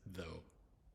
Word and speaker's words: though: think of right now the next example is though though so it's the only letters you're really pronouncing is in though is t h o